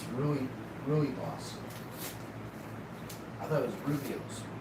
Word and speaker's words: Rooibos: So I was pronouncing it wrong. It's Rooibos.